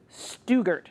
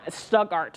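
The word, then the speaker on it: Stuttgart: there's also a really nasty storm moving through stuger if I'm saying it wrong I stugart thank you Trevor uh this storm looks really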